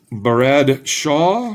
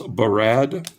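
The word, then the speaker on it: Brad Shaw: We have Jay Mazur, Steve Duchesne, flipping for Phil Bourque, Barad Shaw. I don't know why I gave him 2 syllables. Barad.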